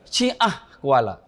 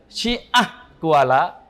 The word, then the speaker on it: Syiah Kuala: kita mahasiswa dari Johor ya bacanya yang salah Jadi sebenarnya bukan Syiah Kuala tapi Syiah Kuala bacanya sehingga kampus kami ini